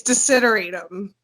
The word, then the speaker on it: desideratum: It's desideratum. Desiderium. It's a really hard word to pronounce.